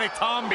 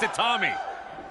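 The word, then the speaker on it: Itami: the man's name right it's not a zombie it's Atami Roderick Strong has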